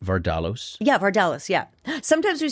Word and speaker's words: Vardalos: Did I say it right, Vardalos?